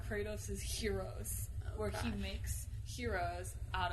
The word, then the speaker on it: gyro: How do you pronounce the... How do you actually... It's hero, right? Yeah. Not gyro?